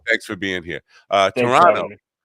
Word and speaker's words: Toronto: for being here uh Toronto toron now mispronounce that as toron but that's I can't help myself that's a a Long Island thing toron uh comedy scene